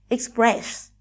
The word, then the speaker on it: express: ấm trước số 1 Express từ này vừa động từ vừa là danh từ có 20 tiếp các em lưu ý trọng âm dưỡng kia số 2 Nasa từ này trọ